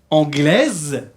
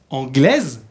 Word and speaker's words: anglais: Et ensuite, vous avez anglaise. Anglaise. Que signifie anglaise? Inglesa. Inglesa, très bien. Comment on dit inglés? Anglais. Anglais, sin pronunciar la S.